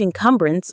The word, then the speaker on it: encumbrance: it becomes a huge encumbrance on our education system. Let's look at that word encumbrance. Enumbrance. The stress is on the second syllable. Come.